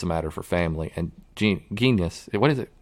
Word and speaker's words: genus: And genus, what is it? Genius. Genus. It's not genius. Genus.